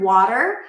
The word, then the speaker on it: water: Okay, so this is easy because first, the word water has a T, but it's a flat T. Wa-da-da-da. So it sounds like a very light D sound or like